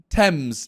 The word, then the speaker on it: Thames: to be honest really i'm saying thames t this is gonna be even weirder when i spell it t h e like thames but thames it's the the river